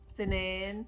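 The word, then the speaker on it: اثنين: Tinin.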